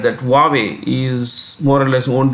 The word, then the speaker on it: Huawei: you pronounce this this is pronounced that's a pronunciation huawei okay why don't you write this this is a logo huawei this is one of the worlds considered to